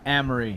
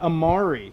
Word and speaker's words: Emery: he said emery yeah emery not amari because that's what i thought he said that's what he told me he said the french pronunciation would be amari but i don't know he does the spanish oh here we go